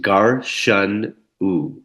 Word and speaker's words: Garshana: So, Garshana. is an ancient practice pronounced gar shun u, and it's Garshanu. essentially dry body brushing with a bristle brush.